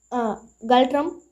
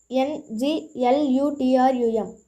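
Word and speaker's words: Ngultrum: Next one, its currency is Galtrum, Nglutrum. N is silent in this currency of Bhutan.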